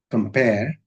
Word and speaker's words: compare: English is a stressed language, so compare, second syllable gets the stress, compare.